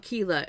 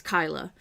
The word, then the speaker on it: Kyla: It's not it's not Kila, it's Kyla.